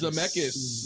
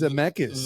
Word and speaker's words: Zemeckis: How do you pronounce his last name, Robert? Zemeckis. Zemeckis.